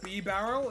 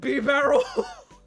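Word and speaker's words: Bibarel: Cuz he's a barrel. He's floating in the water like a barrel. That's why he's a normal type. B barrel.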